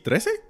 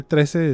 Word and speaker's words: Trese: Neta, sí, Trese? Trese. It's not spelled like our Trese. It's spelled like maybe Filipino Trese.